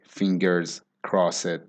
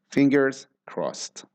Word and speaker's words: fingers crossed: pronunciation of this expression the S actually has a z sound so it sounds like fingers so it has that